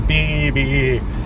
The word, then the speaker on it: Beebe: that is because it's too many times on the phone saying, "Hey, my name's BB," and people are like, "What?" Like, and they always spell it wrong.